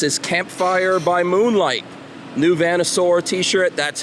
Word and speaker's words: Vanosaur: is out this is campfire By Moonlight new Venusaur t-shirt that's how you pronounce that if you're a fan of Class